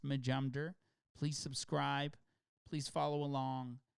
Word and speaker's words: Majumder: It's pronounced Majumder, by the way. For anybody who's wondering, it's pronounced Majumder.